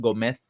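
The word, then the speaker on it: Gómez: find to finish because in spain they call they pronounce it go meth um oh cool this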